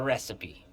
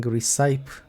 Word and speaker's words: recipe: Mick the barman is out of ingredients, but he should have the recipe. Man, I I was pronouncing wrong recipe for years. I was saying recite and nobody corrected me.